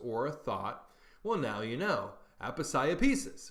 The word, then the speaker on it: Aposiopesis: Number 47, and this is a hard one to pronounce, is Aposiopesis. Aposiopesis.